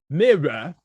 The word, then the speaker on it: mirror: it by the way that's mirror there's two syllables mirror all right all right